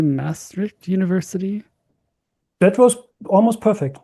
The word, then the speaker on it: Maastricht: How do you say Maastricht University? That was almost perfect, Maastricht.